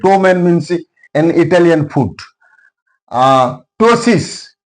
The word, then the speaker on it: ptosis: Ptosis. Here P is followed by T. That's why P is silent.